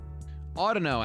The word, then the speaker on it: Audino: Audino, actually, is the way you pronounce it.